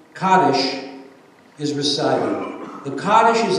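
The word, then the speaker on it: Kaddish: are lighted and a special prayer which is pronounced kades is recited the kades is an ancient poem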